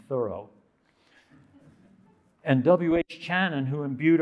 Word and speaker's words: Thoreau: also transcendentalists like emerson thoreau who pronounced his name thorough and w.h shannon who